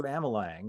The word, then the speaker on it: Amelang: with tonight I'll be interviewing Andrew Amal Lang have I pronounced your name right Andrew you have that's